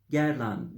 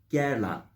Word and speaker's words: Guerlain: kloi zor bir marka guerlain diye yazılıyor kalburüstü parfümler üretiyor herkese göre değil popüler hiç değil Özellikle ORT Doğu pazarında iyi bir yeri var gerın guer diye yazılıyor gerlan diye okunuyor gerlan ve kolay bir markayla